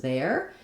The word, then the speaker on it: their: With the letters A-I-R, it has the air diphthong. It's the same pronunciation we have for the possessive pronoun there and for the over there version of the word there.